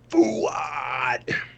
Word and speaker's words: Fuad: You have to say it like John Ward, though, Kyle. It's Fuad. Fuad.